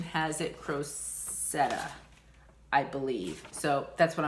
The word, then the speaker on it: Crocette: Google pronunciation has it Crocette, I believe.